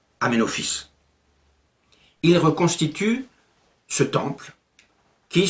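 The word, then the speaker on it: Aménophis: 1936 et encore actuellement le nom d'aménophice fils de Apou s'écrit en hiéroglyphe amen rotep mais il se prononce amenophice il reconstitue ce temple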